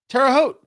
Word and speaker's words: Terre Haute: Terre Haute.